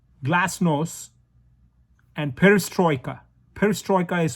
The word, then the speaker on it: glasnost: it's a russian word i'm going to spell it to you in english g-l-a-s-n-o-s-t glass-nose and perestroika perestroika is